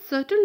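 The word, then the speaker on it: subtle: इसको हम सटल पढ़ेंगे, इसमें जो बी होता है ये साइलेंट होता है, तो आपको इसको प्रोनंसिएट नहीं करना, आपको सिर्फ पढ़ना है सटल, जो कि एक एडजेक्टिव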